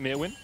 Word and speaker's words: Myrwn: across and say hey can you guys pronounce it mewin do it wrong this whole time we were Merwin apparently is not how it was pronounced we did ask and